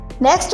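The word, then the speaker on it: knock: इसके अलावा नक में के साइलेंट है।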